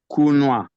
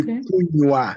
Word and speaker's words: kunywa: For me, the pronunciation is just the same like kunwa. Yeah, it should be kunywa.